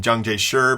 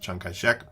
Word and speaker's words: Chiang Kai-shek: Your textbook sometimes calls him Jiang Jie-shi, but that's using sort of standard Mandarin pronunciation, and that's not how he pronounced his name. He pronounced it Chiang Kai-shek.